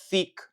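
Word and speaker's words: thikë: So remember, the T plus H, you are going to pronounce it this way. Th, th, th, th. For example, we have here the word knife, which in Albanian you can say thick, thick, thick.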